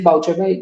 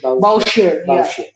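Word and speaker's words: Bouchier: not playing but and I don't think the pronunciation is Boucher Yeah, I think it's Ber.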